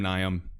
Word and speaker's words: Nium: But again, guys, I know it's pronounced, Neum, Nium, doesn't really matter, burrito.